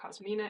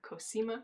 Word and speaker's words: Kima: Kima which I pretty pretty sure I said her name wrong I keep doing that keep calling her cosmina it's Kima the party doesn't have to